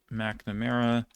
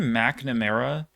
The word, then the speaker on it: McNamara: By the way, the name McNamara is it has to be one of the dumbest pronunciations of anything ever. Like, it makes no sense. Like, it's Mac despite the fact that there's no A.